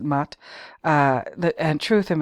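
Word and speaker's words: Maat: and moral spheres and Mott is spelled m-a Apostrophe a t and that's how I pronounce it Matt uh the and truth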